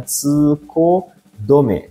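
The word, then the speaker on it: 通行止め: Dosa kuzure hasse no tame ya rodo ga ya doro ga ne tsuko dome ini bacanya tsuko dome to narimasu ya.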